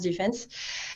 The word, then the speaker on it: DFNS: Alors, c'est écrit DFNS, mais en fait, on a encrypté le mot Defense, donc ça se prononce Defense.